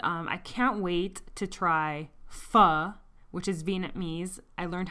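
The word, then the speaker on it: phở: we've had Chinese I can't wait to try phuh which is Viennese I learned how to pronounce it correctly I can't wait to try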